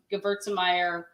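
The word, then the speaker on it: Gewürztraminer: This is 100% Gewurztraminer.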